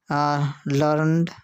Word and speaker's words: learned: और एक वर्ड है लर्नड LEARNED इसमें भी स्पेलिंग एक ही है लेकिन जो मीनिंग है उसके हिसाब से इसका जो प्रोनाउंसिएशन है अलग अलग रहेगा।